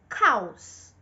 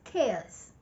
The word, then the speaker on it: chaos: Usually, non-English speakers, especially Italians and Spanish, pronounce this word exactly as it's spelled. They say cows. I even know some people who include the H and pronounce it as chows.